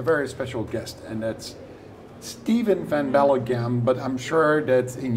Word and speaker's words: Steven Van Belleghem: I have a very special guest and that's Steven Van bagam but I'm sure that in your language Bel in uh Belgium you would pronounce it differently what's your name Steven V bellam but in English you can say Steve Bell